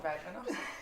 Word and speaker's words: Radvanovsky: Sondra Radvanovsky. Did I say it right ? Yes, you got it, Radvanovsky.